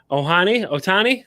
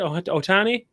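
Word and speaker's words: Ohtani: But Otani, is that what I'd say it? Otani and Soto. I butchered that fucking name, didn't I?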